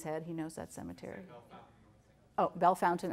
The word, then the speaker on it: Bellefontaine: Bell Fountain. Okay, thank you. I say everything wrong. All the French words are mispronounced.